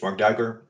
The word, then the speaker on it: Marc Duiker: My name is Mark Duiker. So you pronounced my last name quite well, actually.